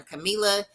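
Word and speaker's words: Kamilah: um dollar sign Camila k-a-m-i-l-a-h that is how you say and spell my name for real for real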